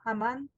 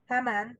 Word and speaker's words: Haman: Am I saying it right now? Haman? Yes. Yes. Okay, Haman. I'll get Haman. there. Yes. Haman. Okay, like ham.